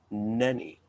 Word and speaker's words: Nänie: confused with nanny yeah there's an umlaut there's two dots over that a they're jairus so the germans pronounce that nani all right we've been